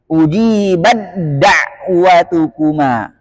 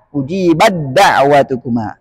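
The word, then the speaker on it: أُجِيبَت دَّعْوَتُكُمَا: dawah atqolat dawah ahah ujibat dawatukuma enggak ada lagi ujibat dawatukuma harus langsung ujibad da ujibad dawatukuma itu dua kata doang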